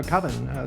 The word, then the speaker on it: coven: could it be pronounced uh coven that's the proper pronunciation no no no no no no no no no no coven sounds like Oven Man and that's just it doesn't work keeps the same Disgaea